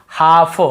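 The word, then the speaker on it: half: जैसे काफ काफ काफ हाफ हाफ काफ हाफ एल को यहां पे नहीं पढ़ना है काल्फ हाल्फ नहीं पढ़ना है काफ बछड़े को बोलते हैं हाफ यानी आधा एल साइलेंट और एक रूल क्या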